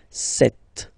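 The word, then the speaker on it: sept: Then here, remember, P is not pronounced. Okay, it doesn't exist. So you got this set sound. Set.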